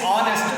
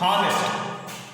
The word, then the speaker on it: honest: See, pronunciation is honest, not honest.